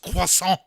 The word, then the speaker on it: croissant: pronounced croissant.